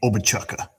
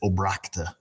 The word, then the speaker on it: Obrakta: So how do you pronounce my last name? Obachuka. I'm just kidding. That's how you say it if you're a salesman calling on the phone, telemarketer. It's Obrakta. It's Polish.